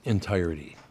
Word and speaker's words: entirety: It's entirety. Entirety. You don't say riddy.